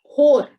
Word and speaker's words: whore: Whore. This is pronounced whore. W is silent.